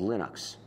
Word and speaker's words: Linux: people pronounce my name but Linux is always Linux he developed a kernel